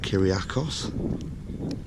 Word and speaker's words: Kyriakos: This is one's called Kyriakos. It's Kyriako. They don't pronounce the S's.